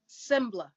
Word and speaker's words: Sengbloh: Sembla. Sengbloh. Yes. Okay. Saycon Sengbloh.